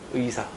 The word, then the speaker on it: 의사: 이 의 발음이 첫 음절일 때 의는 무조건 의만 됩니다. 예를 들면 요거 의사를 발음하면 이렇게 발음해야 돼요. 얘를 의사라고 발음하면 안 된다는 겁니다. 이사는 더 안 되고요. 의사.